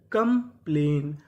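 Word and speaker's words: complain: सी ओ M come P एल ए आई एन। यहां पे लिखा है ए आई। तो हमें एआई किसकी मात्रा काम करेगी? ए की। तो मीनिंग क्या बनी? कंप्लेन। कंप्लेन। कहने का मतलब ए आई हमारा ए और ए की मात्रा का काम करता है।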